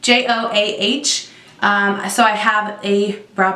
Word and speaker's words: Joah: brand to the drugstore joah I think that's how you say it jo aah so I have a